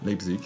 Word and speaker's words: Leipzig: Je sais pas comment on prononce ça. Leipzig, oui.